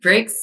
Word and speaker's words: BRX: Some people say, well, it's spelled B RX cuz I could get the domain. Let's be honest, that was part of it. And then the other and then I we call it bricks just cuz it's easier to say and it can rhyme with things.